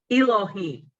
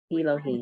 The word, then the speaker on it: Elohim: I know the E, I don't know how to pronounce it. Elohim. Elohim.